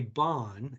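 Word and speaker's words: Bain: what we call a bond and it looks like it's spelled Bane but it's actually pronounced Bond and it really is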